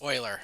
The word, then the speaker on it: Euler: Euler. It's Euler. I have to pronounce it Euler.